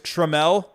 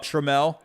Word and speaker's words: Trammell: am i pronouncing wrong it's tremel oh trammell trammell i don't know why i suck trammell trammell i guess that makes sense there's two l's at the end but uh hey the